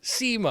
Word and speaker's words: Buscema: people pronounce it both ways but schema or basima and in the book he actually says no it's not b-u-s-s-k-e-m-e it's SEMA I'm like okay hey I know how to pronounce his name now there you go right